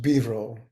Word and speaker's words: Vivro: So become one with Vairochana's name here is shortened to Vivro, which is pronounced Bivro. You'd never guess.